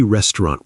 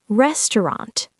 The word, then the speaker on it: restaurant: Now, let's practice pronunciation of tricky restaurant words. Great idea. Repeat after us. Restaurant. restaurant or restaurant. The au sounds like uh cuisine.